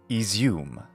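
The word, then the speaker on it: Izium: carcavo Blast is izum this y sometimes written as an i stands for the ya sound actually it's the palatalization of the preceding consonant but close enough so in English the right pronunciation of this city is izum in the far west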